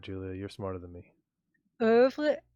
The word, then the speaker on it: oeuvre: Oeuvre. It depends how French you're going to be. It's ouvre, Well, you live in Canada, so you have to be pretty French.